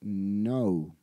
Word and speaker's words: know: k sí K no esa K es muda esa K no suena simplemente la pronunciación es no en pasado es New